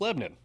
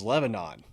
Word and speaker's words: Lebanon: nashville if you're new to middle tennessee it's pronounced lebanon yeah it's funny you can always tell who